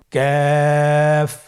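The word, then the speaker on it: كاف: Calf উচ্চারণের ক্ষেত্রে অবশ্যই পাতলা করে উচ্চারণ করতে হবে এবং 3 আলিফ টেনে পড়তে হবে। আপনারা আমার সাথে চেষ্টা করুন। ক্যাফ।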